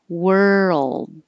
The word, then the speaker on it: world: d daughter and world this one comes up a lot because it is difficult were and then back for the l world world same as squirrel